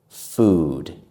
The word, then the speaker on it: food: The mistake that many people make is putting their lips too close together and making them too tight. We do not do this. We do this.